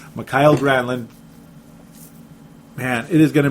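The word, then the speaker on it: Mikael Granlund: finally M gramlin mckyle since there's like 15 different ways to pronounce his name but that's the correct one I guess mckyle granin man it is going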